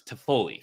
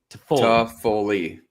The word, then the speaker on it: Toffoli: B, or C, pick which way you think it's spelled. But when you say it out loud, it's Toffoli, right? Toffoli.